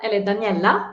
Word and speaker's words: Daniella: okay but yeah so my name is Daniela Daniela in Swedish and I'm one of